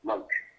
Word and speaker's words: Loach: And it was called, lovingly nicknamed, the Loach, which stands for Light Observation Helicopter, basically, and that's the way you pronounce it, Loach.